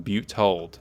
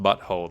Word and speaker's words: Butte Hold: The infamous Red Jack Ryan founds Pirate Kingdom on Butte Hold. Not to be mispronounced Butthold, like I did.